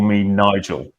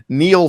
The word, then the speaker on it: Niall: a lot of people nigel nigel nigel ferguson so we have and when people call me nigel i will correct them yeah the famed the famed historian and uh uh sometimes biographer neil ferguson with us today